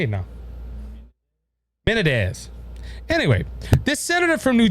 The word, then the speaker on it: Menendez: That's how you say his name, Menendez. I said it earlier. I can't say it now. Menendez.